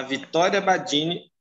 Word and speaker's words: Vitória Badini: E hoje nós vamos receber aqui a Vitória Badini, é assim que pronuncia, Vitória? Isso.